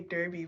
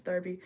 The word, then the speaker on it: Derby: I almost wanted to say Derby, but I think it's Derby.